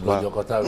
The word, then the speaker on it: Lojokotao: MP, Honorable Batum Ben Lojokotao. I hope that is the right pronunciation. Yes, Batum is the other pronunciation. Lojokotao is correct.